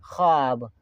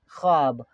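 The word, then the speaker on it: خواب: वाव है बट वाव का यहां पे प्रोनाउंसिएशन नहीं हो रहा है। वाव का यहां पे उच्चारण नहीं हो रहा है। वाव का जो है यहां पे आवाज नहीं निकल रही है।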